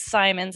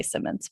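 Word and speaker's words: Simons: to be here um my last name is simon's at rhymes with diamonds i always had to tell the announcers that so they could remember because everyone wants to say simmons but thanks for having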